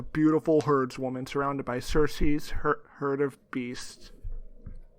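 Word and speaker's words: Cersei: first-rate I'm scared now is that actually how you pronounce it no I thought I knew but now I'm doubting myself because a game of throne sir see yes according to Wikipedia sir see okay all right I'm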